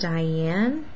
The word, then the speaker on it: Dyanne: So I had an email from, I think it's pronounced Diane.